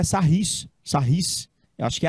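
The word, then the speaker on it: Sarrus: não mas escreve sarros escreve sarros mesmo mas parece que a pronúncia é sarris sarrrice eu acho que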